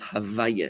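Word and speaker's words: הויה: So God, when you say this word Yud Ke Vav Ke, we only pronounce it Havaya. We rearrange the letters because you're not allowed to say the name of God in its original form because it's like disrespectful.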